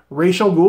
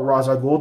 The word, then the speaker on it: Ra's al Ghul: going to begin the game with the character Rachel ghoul or Ra's al Ghul depending on how you want to pronounce it on top of the stack then